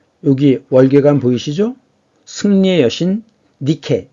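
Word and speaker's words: Nike: 월계관 보이시죠 승리의 여신 니케 있니다 니케 영어 발음으로 나이키 나이키 그다음에 그 에베소에 있는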